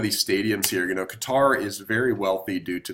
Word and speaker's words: Qatar: small little country of Qatar it's spelled guitar some people do pronounce it cutter I've heard it both ways so I allow either one its capital city is